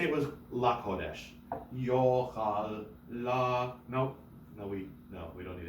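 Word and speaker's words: יֹאכַל: Lo yochal kodesh. Lo yochal kodesh. Nobody does that. Mercha is mercha. Yes. So you don't say yochal. No, because the accent is on yo.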